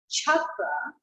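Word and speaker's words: चक्र: So when we have the word chakra, sometimes it's just written CA because it's understood that there's an H sound there. Chakra is always cha cha cha.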